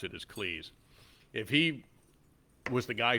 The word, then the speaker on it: Cleese: stuck with Cleese and that is how you pronounce it as Cleese if he was the guy who walked in